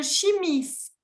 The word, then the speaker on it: chimiste: Le chimiste. Le chimiste. Y ahí tienen que pronunciar la T.